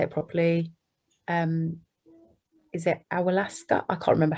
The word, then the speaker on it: Ayahuasca: Is it Ayahuasca? I can't remember how to say it, but Ayahuasca.